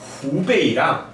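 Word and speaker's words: 湖北: 이 호자를 호수할 때 호자인데 이게 후라고 읽어요. 호북성 후베이입니다. 아마 제 생각에는요 그 기자가 여기 나오는 후베이랑 베이징을 둘러싸고 있는 허베이랑 두 개를 조금 지명을 헷갈렸던 것 같아요.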